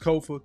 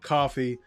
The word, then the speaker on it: Kofa: Once again, I am your humble host, Kofa, K-O-F-A, not coffee, not kufu, not Kofi, or any variation thereof. Kofa rhymes with sofa.